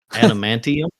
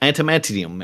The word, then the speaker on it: adamantium: I pronounce it wrong every time. Adamantium. Yeah, you got it. That's usually I end up getting it wrong. like antimeantium and antidum.